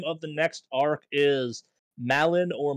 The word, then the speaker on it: Malin: The name of the next arc is Malin or Milan, if you're pronouncing it correctly, spelled M-A-L-I-N.